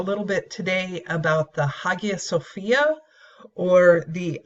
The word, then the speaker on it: Hagia Sophia: bit today about the Hagia Sophia or the aya Sophia as it's pronounced in Turkish this is a pretty